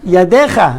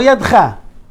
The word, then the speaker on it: ידיך: ובקומך, וקשרתם לאות על, מה? ידיך, לא ידך. Some say mistakenly ידך, ידיך.